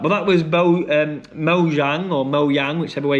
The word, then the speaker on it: Mojang: But that was Mo um Mo Jang or Mo Yang, whichever way you want to pronounce it. I think it's Mojang. I think it is. You pronounce the J.